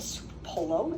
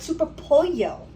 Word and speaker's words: Super Pollo: She's like, it's not called Super Polo, it's called Super Pollo. Like with this, you know, like I'm supposed to know. It says, it's spelled super and then polo, P-O-L-L-O. So I'm Italian, and when I see that word, I say polo, because that's how you say chicken in Italian, right?